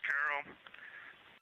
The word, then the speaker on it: Carroll: And we would like to call it Carol, and you spell that C-A-R-R-O-L-L.